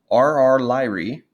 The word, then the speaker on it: RR Lyrae: And there's 2 important types of these, RR Lyrae. So this is how you would pronounce it, RR Lyrae stars.